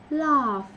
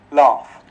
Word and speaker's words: laugh: Quan trọng có chữ phờ sao giùm nha mọi người. Cái linh hồn của cái chữ này chữ phờ, viết GH nhưng đọc là phờ.